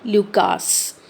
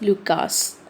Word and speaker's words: Lucas: Lucas? Sometimes it is also pronounced as Luca, but the American and British pronunciation is Lucas.